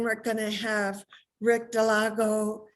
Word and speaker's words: Dallago: announcements and then we're going to have rick delago how do you say your last name rick that was perfect delago dilago okay good and and rick's gonna start a